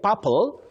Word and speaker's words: papal: You say papal, papal, to do with the Pope, papal.